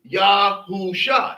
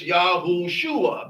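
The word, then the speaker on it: יהושע: it has these letters, the way it is pronounced is not Yahusha. It is Yahushua because the vow designation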